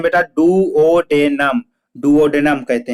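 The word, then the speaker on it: duodenum: हुआ था पेरिस्टेलिसिस मतलब होता है, इसको प्रॉपर प्रोनाउंसिएशन कैसे पढ़ेंगे, पेरिस्टालिस, पेरिस्टालसिस, ठीक है, पेरिस्टालसिस होता है। और डूडनम को क्या पढ़ते हैं बेटा, डुओडेनम, डुओडेनम कहते हैं।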